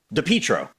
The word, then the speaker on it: DePietro: woman is that you pick up on the pronunciation of certain words. Right away, I read it and I was like, oh, DePietro.